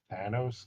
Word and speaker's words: Thanos: me his name is Thanos Skywalker like anus but with an O yeah after a very